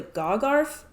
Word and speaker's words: Gagharv: So the next games in the series are part of the GOGARF sub-series, and if you want to know how that's spelled, it's GAGHARV, GOGARF, whatever that means.